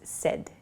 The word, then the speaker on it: said: S S is not correct so please use said it sounds like s d the pronunciation uh but it's said s a i